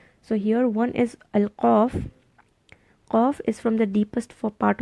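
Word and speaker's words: قاف: Put a sukoon and pronounce it like aq, aq, qa, qa, qi, qu. It's more back, very much back.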